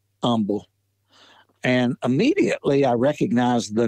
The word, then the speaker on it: Humble: But in my research, I kept reading about Michael Humble, and it's actually pronounced with the H being silent, Michael or Humble, not it's spelled H-U-M-B-L-E and the H is silent.